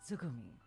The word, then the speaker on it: つぐみ: In Japanese, you write it moon, and then ocean, and read it Tsugumi.